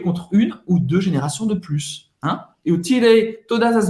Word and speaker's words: de plus: De plus. Dessa vez você vai pronunciar o S no final, no sentido de mais, ok?